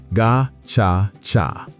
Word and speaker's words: Gacaca: Instead of simply punishing the guilty, they revived an ancient community justice system called Gacaca, pronounced Ga-cha-cha.